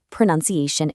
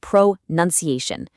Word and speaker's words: pronunciation: Because the verb form to pronounce has that really clear u n sound, but when it transforms into a noun, it entirely drops it. it becomes pronunciation. It is incredibly common to hear even native speakers accidentally say pronunciation, but hey, you won't